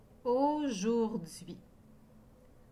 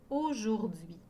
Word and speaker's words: aujourd'hui: chez n'oubliez pas de vérifier après chaque fois aujourd'hui regardez bien le mot aujourd'hui au jour d'hui il y à trois c'est l'âme dans le mot aujourd'hui et il y a dix lettres dans le